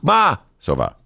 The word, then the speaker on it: Masova: She always, Ben, it's Duke Masova. Duke Masova. It's like matzo, yeah, matzo ball.